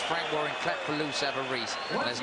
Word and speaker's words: Savarese: comeback trail against Lou Savarese, as we will call him. The Italians behind us are pronouncing it Savarese, and that'll do for me, Frank. Savarese, I believe, is the American pronunciation, but we won't worry about that.